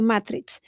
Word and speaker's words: matrice: Al mismo tiempo afirmó que existía otro nombre medieval de Madrid, no precedente de Magrid, sino del romance mozrabe matrice, pronunciado Matrich, y con el significado de matriz o fuente, manantial de aguas.